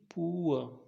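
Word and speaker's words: poor: at 20 example देखिए पुअर यहाँ जो रा लिखा हुआ है ये ब्रैकेट में ये साइलेंट रहेगा पूरा इसका प्रोनाउंसिएशन नहीं निकलता है र आपके मुंह के अंदर ही ख़त्म होना चाहिए पुअर टूर श्योर।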